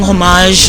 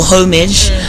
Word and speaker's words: homage: It's him just like paying homage or homage depending on how you pronounce it to the continent of